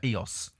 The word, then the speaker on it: Ios: I went to a place in Greece once called Eos, which is spelled IOS.